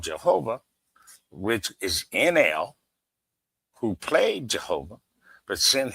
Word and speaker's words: Enlil: But the real names of these people that they called Jehovah, which is Enel, who played Jehovah, but sent his son to go talk to Moses, that was Ninurta, Ninurta.